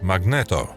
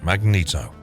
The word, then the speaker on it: Magneto: his superpowers are mutants because he's German his name is pronounced Magneto rather than Magneto Magneto voice actor John